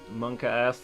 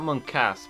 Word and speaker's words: monkaS: It's not monkas, because the S is clearly meant to be the start of a new word.